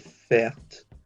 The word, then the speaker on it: fährt: Notice when I pronounce that word fährt, the umlauts over the A make it more of an air sound like fair, as opposed to an R sound like bath.